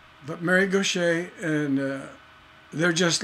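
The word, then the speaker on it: Gauthier: are freakin geniuses and Gaucher looks like go cheer it's spelled G o CH ier something like that it's a weird spelling but Mary Gautier and they're just like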